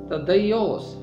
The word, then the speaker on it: تدئی: کا لفظ ہے اور یونانی میں اس کا تلفظ ہے تدیوس۔ اس کا مطلب ہے